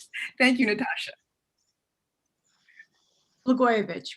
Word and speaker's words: Blagojevich: take it from here and no doubt correctly pronounce the name thank you natasha lagoyovich right may we uh forget that name soon